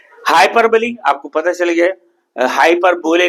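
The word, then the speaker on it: hyperbole: हाइपरबली आपको पता चल गया, हाइपर बोले नहीं बोलना, स्पेलिंग को देख के लोग हाइपर बोले बोलेंगे। हाइपरबली, हाइपरबली अतिशयोक्ति अलंकार, बढ़ा चढ़ाकर बोलना जो संभावना हो।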